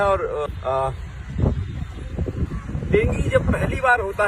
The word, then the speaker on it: dengue: डेंगू जो है dinghy कहते हैं। डेंगी एक्चुअली यहाँ पे लोग डेंगू बोलते हैं पर प्रोनाउंसिएशन डेंगी है।